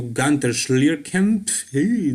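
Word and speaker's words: Günter Schlierkamp: him posing next to gunter schlierken that is how you pronounce his german name but yeah gunther was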